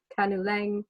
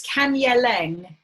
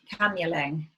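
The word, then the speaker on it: Kanyeleng: word throughout the presentation is it kanu lang k-a-n-u-l-e-n-g or kaniling k-a-e-n-i-l-i-n-g oh yeah sorry um it's kanye lang k-a-n-y-e-l-e-n-g kanyeling okay in fact our colleague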